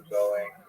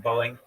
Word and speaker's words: Boeing: Remember I said like um Amazon will go to B uh Prime Boeing will just be boing just boing one syllable boing like boing boing boing boing boing.